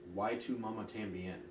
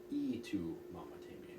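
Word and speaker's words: Y tu mamá también: I would also watch and mispronounce why to mama tambien which is also called e to mama tambien because the y in Spanish is an e of that but I would go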